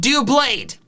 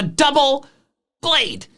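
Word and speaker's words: Doublade: also quick psa also a call out for pokemon 7 specifically it's not pronounced dewblade it's a double blade doublead the next two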